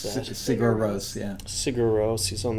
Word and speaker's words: Sigur Rós: How do you pronounce that? Sigur Rós, yeah.